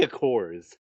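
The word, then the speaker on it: Aqours: It should be how it should be. A Coors? Yes, because it's spelled AQ and then hours. So the girls are literally looking at this going, I don't know how to pronounce this. Oh. Well, they're like, it looks like a combination of aqua and hours.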